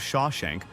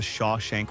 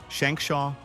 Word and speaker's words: Shawshank: Robbins himself admitted that audiences had trouble remembering or even pronouncing the Sha Shank Redemption people referred to it as Shimmy Shimmy Shake shankshaw or scrimshaw reduction while the title has